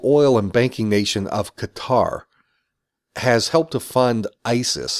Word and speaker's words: Qatar: how I'm pronouncing Qatar I know it's pronounced with a glottal stop gut gut powered guitar